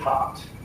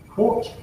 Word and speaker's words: quarte: often spelled quarte but pronounced quarte for some reason, as in quarter.